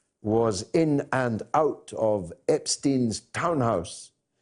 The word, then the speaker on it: Epstein: from the very beginning when most people didn't know how to pronounce his name and some people still don't it's still a controversial matter it's Epstein Jeffrey Epstein he is